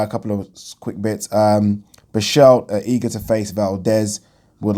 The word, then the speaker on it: Berchelt: Is it Berchelt, pronouncing the T or not pronouncing it?